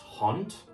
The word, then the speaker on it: hond: So, you can see in the first word, even though it ends in a d, it's being pronounced as a t.